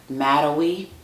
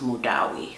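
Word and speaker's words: Madawi: with my English American accent I would have pronounced that MWI but uh this lady that speaks Arabic she told me that this is a like female name and it's pronounced mudawi so so this is like a peach fragrance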